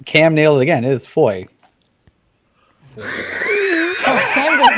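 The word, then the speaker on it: Fowey: making they're just as gutsy as we are foley i'm going to say it's foley stealing my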